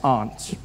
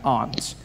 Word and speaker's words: aunt: you by for instance I pronounce the Opposites of Uncle as Aunt I say my aunts out here you say my aunt aunt which to me is an insect which made me look